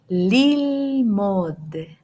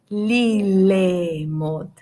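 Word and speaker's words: ללמוד: Lilmod, lilmod, lilmod. We are not going to read lilemod, lilemod, okay? Because Shiva is silent, okay?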